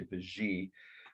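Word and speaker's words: Vigée: The artist's name was a woman, hyphenated last name, Vigy or Vigy. I've heard it pronounced both ways, but I think in France they would say Vigy.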